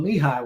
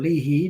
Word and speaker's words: Leahy: MAC conference there in Leahy World, or Leahy, depends on where you're from as to how you say it.